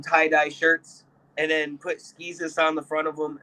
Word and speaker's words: Skeezus: Skeezus, the guy that looks like Jesus.